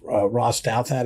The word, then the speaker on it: Ross Douthat: But it was fascinating to me about very conservative columnist Ross Douthat, is how you say his name.